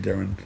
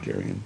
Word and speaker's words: Darian: I got his name wrong. I said Darren. And 25 years ago, huh? 15 years. 15 years ago, huh? Wow, that kid, he's like a young adult now. Yeah. Darian.